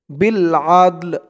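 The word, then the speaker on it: بالعدل: এখানে উচ্চারণটা খেয়াল করবেন, অক্ফ করার কারণে উচ্চারণটা এখানে এমন হচ্ছে বিল আদল।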